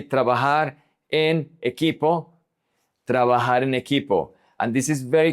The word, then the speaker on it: he: Remember that the H is silent.